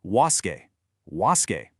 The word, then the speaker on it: WASSCE: Okay, we are looking closely at the WCE English exam which is officially pronounced was.